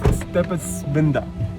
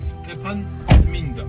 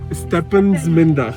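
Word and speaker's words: Stepantsminda: we are headed towards Stepasminda. Did I pronounce? No. He said, what? Can you tell us again? Stepasminda. Stepan Zminda. Stepansminda. Stepan like Stephen, and Zminda like Saint.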